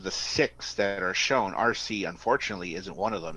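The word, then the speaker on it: Arcee: the letter C a rcee okay yep spelled out but it's pronounced RC like the remote control also she was one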